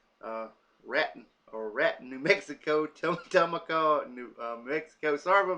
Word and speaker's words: Raton: in Las Vegas New Mexico Trinidad uh Colorado rotten uh Raton or rat New Mexico server mispronounced their name 15 risk for a uh